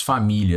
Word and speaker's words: família: te mostrar o seguinte ó se nós separarmos família da maneira tradicional o que ela é veja